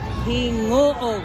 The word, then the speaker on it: Gingoog: U ang hirap ng bigkasing non Kuya anong bigkasing muli hingo Gingoog ay ang hirap ah pronce like an nahirap